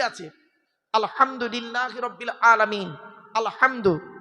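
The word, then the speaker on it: الْحَمْدُ: আলহামদু এ গলার ভেতর থেকে এটা উচ্চারণ করবেন।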